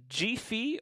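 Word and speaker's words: jefe: And then over here, we have a master volume G-fe, or J-E-F-E, as it's spelt.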